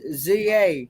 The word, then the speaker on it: za: We have one is ZA. What is ZA? Z-A. Za. It's pronounced za.